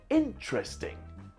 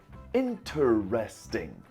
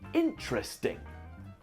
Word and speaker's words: interesting: be careful it's pronounced interesting it looks like it has four syllables interesting but we actually pronounce it interesting in tre sting there